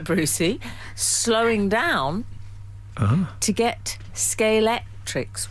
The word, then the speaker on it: Scalextric: with a K. So it's Scalextric. Yes. Oh, I'm so proud of myself. Scalextric.